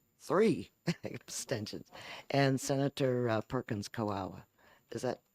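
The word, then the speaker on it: Kwoka: And Senator Perkins Coawa. Is that how it's pronounced? Quokka, Perkins Quokka. Quokka. Okay. Oh, the KW is the Q as in, okay, like in Kuwait.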